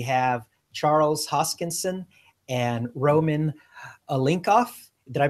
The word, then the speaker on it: Oliynykov: We have Charles Hoskinson and Roman Oliynykov. Did I pronounce that correctly, Roman? Yes, Roman Oliynykov.